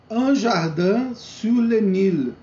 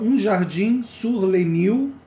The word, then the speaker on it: Un jardin sur le Nil: Un jardin sur le Nil. Fala um jardim sur le Nil, mas a pronúncia correta é un jardin sur le Nil.